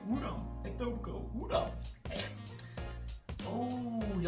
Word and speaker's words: Etobicoke: Die KE spreek je niet uit. Hoe dan? Etobicoke.